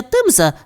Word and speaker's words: Темза: Вимовляється Темза так просто, хоча англійською записується як themс, - сказала Гренні.